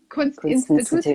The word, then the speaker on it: Kunstinstituut: is officially going to change its name to Kunstinstituut. Am I saying it right? I'm missing a T in there somewhere. Kunstinstituut, yeah.